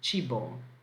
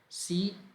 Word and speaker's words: cibo: There was an advertisement from McDonald's, or I think a kind of burger that was called Chibo. So let me spell it for you. Here we go. Chibo. So Cibo in Italian.